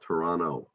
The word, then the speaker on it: Toronto: video um canadians or many canadians actually don't pronounce the second t in toronto so they'll talk about toronto um but even there